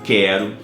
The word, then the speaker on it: quero: Sempre que isso acontecer, o U não está sendo pronunciado. Então, nesse caso da palavrinha quero, tá? Que é o grupo de risco com relação GUI, GUE, QI, QE, o quero, o U não vai ser pronunciado. Então, a gente pode escrever